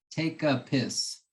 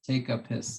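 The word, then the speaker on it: Tepusquet: but we call it take a pissed but that's the that's the Chumash pronunciation is take a piss take a piss uh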